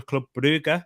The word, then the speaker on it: Brugge: And Vincent is a Club Brugge fan, or a Club Brugge, if you are watching from Belgium. Big up to yourself. That's how you pronounce it, Ed. Giving you a bit of a lesson right there. Club Brugge.